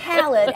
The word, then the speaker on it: Khaled: Oh, wait, how do you pronounce it? DJ Khaled, and then there's also Khalid.